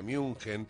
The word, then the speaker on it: München: En esta oportunidad se ha dado en Alemania, en la ciudad de, como se la conoce, Múnich, se la pronuncia München, pero bueno, la cuestión